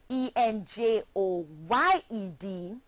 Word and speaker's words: enjoyed: the past tense verb enj o ye D and it's pronounced enjoyed having two syllables still try that one